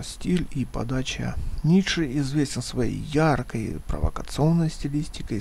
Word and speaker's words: Ницше: кому-то Как как нравится Я думаю что правильно говорить Достоевского и ниши Но если это прям прям совсем принципиально Ну европейцы же говнюки они будут хотя бы просто из из говн своей принципиально будут говорить ниша и Достоевского А собственно